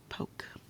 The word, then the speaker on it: poke: p it's not poke if we want this to be an O not a a we got to put that Sil e at the end so o letter e makes it a long o sound poke go ahead and